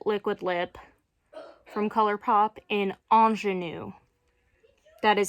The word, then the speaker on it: Ingenue: Lip from ColourPop in Ingenue. That is how you pronounce that. I know it says, like, it's spelt with an I. That's a French word.